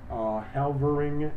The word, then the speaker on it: Helvering: Halvering, which is spelled Helvering, versus Davis, 301, U.S.